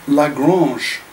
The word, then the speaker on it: Lagrange: you but it's uh it's called lagrange it's a french mathematician like garages uh well i'll just spell it l-a g-r-a-n-g-e lagrange uh what does garage